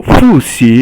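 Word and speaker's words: 复习: Then Fu is fourth tone, Xi is second tone, and so Fu Xi, it means kind of, Fu is to repeat something, and Xi is to learn.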